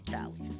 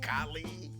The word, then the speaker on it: Kahlee: that's my point yeah they want to call me callie i'm like so i changed the spelling because it used to be k-a-l-i changed it to k-a-h-l-e-e and now it's about pronunciation i'm sure it improved somewhat but let's just say who's still calling me cali what's your name kylie oh cali i'm like more like how i said it i mean kylie you